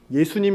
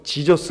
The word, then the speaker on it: 예수: 조금 다른 얘기긴 하지만 예수님 시대에 예수 라고 불렸을 까요 지져스 라고 불렸을 까요 이름을 예수라고 불렸습니다 우리나라 마리가 짱 가깝습니다 애니 뭐 영어발음 한다고 우리가 무리할 필요가 전혀 없습니다 최소한 성경에 나오는 언어는 한국어 가 톨 씬 더 정확합니다 제 이름이